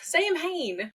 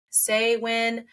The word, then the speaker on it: Samhain: oh it's the weird Sam Han day you know um Sam but Sam Hayne but it is s or say when um it just depends on like where you're from and how you have pronounced it I probably already buered